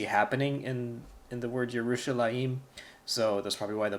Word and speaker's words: Yerushalayim: in in the word yerushalayim so this probably why the book doesn't go over it but this is not pronounced Jerusalem a it's your Russian law team the here it gets pronounced before the ma'am I'm not exactly